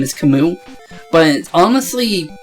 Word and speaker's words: Camus: wait was that wait was that kamis or camus or however you want to say his name apparently how you say his name is kamu but honestly it's spunk canvas if you're reading